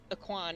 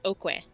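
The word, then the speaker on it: Aucoin: my state his name last name is not pronounced aquan he changed it for uh his uh career that last name it's pronounced okwe yeah that sounds like a news french is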